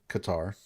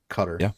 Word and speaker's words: Qatar: leadership is is in Qatar Qatar is a place where we could put pressure cutter Qatar whichever way you want to pronounce it we could immediate